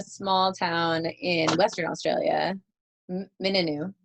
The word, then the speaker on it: Mingenew: So now you came from a small town in Western Australia, Mingenew, right? Yep, Mingenew.